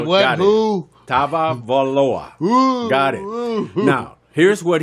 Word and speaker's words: Tagovailoa: I believe they pronounce it Tagovailoa. Think of Jack. Here we go. Tagovailoa. Get a bet. There Everybody, we go. what? Got Who? Tagovailoa.